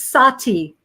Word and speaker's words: Sati: Yes, actually, Freaky Geek is saying, how do you pronounce it's Sati? Is how you say it, Sati.